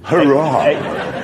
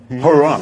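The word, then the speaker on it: Huayra: Hurrah! So it's spelled H-U-A-Y-R-A, the... Hurrah!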